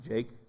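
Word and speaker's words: Jakeh: That that's that's actually how it's supposed to be pronounced, Jake.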